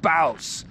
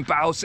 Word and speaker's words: Bouse: have arrived at camp baus that's what the locals say that's how you pronounce it camp baus in bause arizona this is where